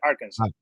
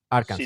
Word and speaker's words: Arkansas: Se dice Arkansas. Arkansas. Sin la S final, sí. Vale, No me preguntes el por qué. Yo he aprendido a pronunciarlo así porque cuando decía Arkansas no me entendía.